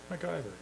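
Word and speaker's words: McIver: uh Municipal Affairs uh Minister how do you pronounce his name mver mcgyver mcgyver okay for information for information uh Larry all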